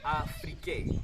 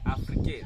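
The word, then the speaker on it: Aphrike: Now the Greek called Africa Afrique. Afrique. That is spelled A-P-H-R-I-K-E.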